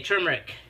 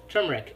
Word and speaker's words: turmeric: made a substitution okay turmeric I've been pronouncing it wrong the whole time turmeric hey Care Bear how you doing so nice seeing you thanks for coming by uh turmeric one teaspoon we are